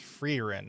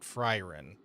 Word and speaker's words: Freerin: It's pronounced Freerin, not Fryrin.